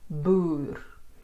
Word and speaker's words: Boer: Or a lengthened oo before an R. Boer and voer.